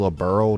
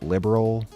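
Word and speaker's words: Liberl: saving liberal oh yeah apparently it's a little burl not liberal i said it wrong throughout the entire first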